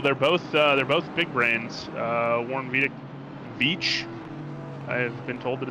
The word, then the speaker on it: Veach: Warren Veach. I have been told that it's pronounced Veach.